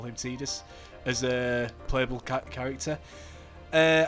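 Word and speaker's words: Tidus: So I am here controlling I believe it's pronounced Tedus not Titus as I was convinced and I'm sure many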